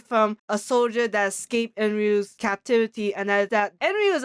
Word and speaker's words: Eneru: spelled the name as like Eneru because you pronounce the name as Enru, but like the Wikia spells it as Enel, which is you pronounce it like Anel, which is not right.